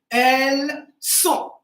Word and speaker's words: elles sont: But here the S is clear because it belongs to the verb to be. All right, it belongs to SONS, okay, the main composition. So that's why here it says elles sont.